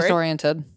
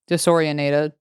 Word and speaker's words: disoriented: Disoriented. What am I saying? Disorientated.